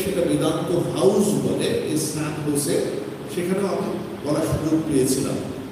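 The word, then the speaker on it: San Jose: মধ্যে একটা জায়গা হচ্ছে স্যান হোসে, ইংরেজিতে আমরা লিখি SANJOSE, কিন্তু যেহেতু সেখানে স্প্যানিশ বা মেক্সিকান অনেক, এই উচ্চারণটা হোসে হয়ে যায়, যেটা এই উচ্চারণ হয়ে থাকে।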